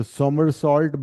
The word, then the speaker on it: somersault: So somersault by a diver is also an example of conservation of angular momentum.